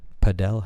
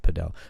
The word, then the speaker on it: padel: Padell House. I think it's pronounced Padell, but there's this sport.